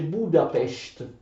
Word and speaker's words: Budapest: Attenzione, si legge Budapest.